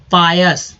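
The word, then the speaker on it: pious: पायस, देखिए OUS को अस तो बोलते ही हम लोग, मैंने कई बार बोला। अब आय का उच्चारण यहाँ दोस्तों आ के रूप में हुआ है, क्या किस चीज में हुआ? आ के रूप में, तो हो गया पायस मीन्स पवित्र, पायस मीन्स पवित्र।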